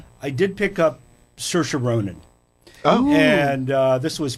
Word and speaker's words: Saoirse: It rhymes with inertia. It's Saoirse.